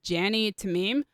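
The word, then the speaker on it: Jany Temime: Thank you to, I believe her name is pronounced Jani Tamim, for Nat's best Black Widow suits, and apparently the most comfortable one as well.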